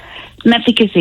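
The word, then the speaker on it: Mousehole: meissy meissy yeah Alice is that how you pronounce it meazy yeah right meazy yes where's that it's um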